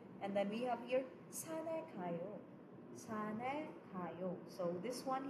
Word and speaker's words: 산에: Pero igsuwat mo, of course, there is batchim, but when you're going to pronounce it, batchim 없어요, because it will be carried over.